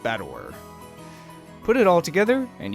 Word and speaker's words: Battler: It's made up of the characters for fight and person, and it's pronounced Battler.